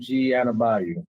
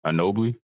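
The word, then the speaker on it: Anunoby: Hornet Gerald Wallace 1617 Kawhi Leonard and OG Anabay. You said that wrong. That name wrong. Annabio. No. Anobi.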